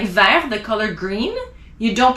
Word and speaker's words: vert: at the end of the word you don't pronounce it like ver the color green you don't pronounce the vert